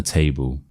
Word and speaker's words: table: So, we have sixwars here. Let's break it down. She, no. Bought, no. Uh, yes. Sofa, yes. Uh, yes. Chair, no. Un, yes. Uh, yes. Table, yes.